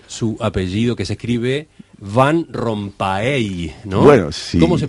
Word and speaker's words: Van Rompaey: noo se pronuncia si en puridad en la lengua flamenca ser fan con f Pero bueno estamos en el Uruguay y uno ya está acostumbrado a que se pronuncie de esa manera me parece correcto ustedes